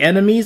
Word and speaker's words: anemone: I thought it was sea enemy. I don't know why. I think I ever heard on Arthur they call it sea enemies, so that's why I'm calling it sea enemies.